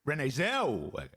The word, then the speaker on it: Zellweger: Wegger, right? Don't spend too much time on the Wegger. Renee Zellweger. Yeah, that's better. Or just Renee. Just Renee. Renee Zellweger. Zellweger.